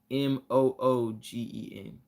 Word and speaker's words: Mugen: I always naturally said Mugen, trying to overpronounce the word, but technically it's pronounced Mugen. So as if it was Moogen is how it's pronounced.